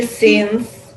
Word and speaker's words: sings: So, Olena, that that sound is an NG sound in English.